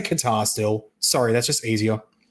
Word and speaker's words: Qatar: It's not It's not Qatar. It's cutter. It's coder. all this like all this stuff. We need to say we need to pronounce it. I'm gonna say guitar still.